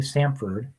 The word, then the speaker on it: Samford: Pronounce that correctly. Samford, who's ranked number 8 or the 6th seed in the tournament.